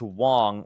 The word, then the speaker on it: Wang: Also, it's pronounced Wong like wrong.